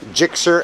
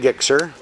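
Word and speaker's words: GSX-R: 2013 Suzuki GSXR 600 I've heard it pronounced GSXR and geek sure so I'm gonna go with that here we have a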